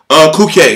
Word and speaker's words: Culcay: We're waiting because the thing is, Culcay is how you pronounce his name, from my understanding.